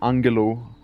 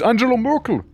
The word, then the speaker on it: Angela Merkel: I mean, it's like basically them just mispronouncing like Angela to Angalo. It's Angela Merkel, right?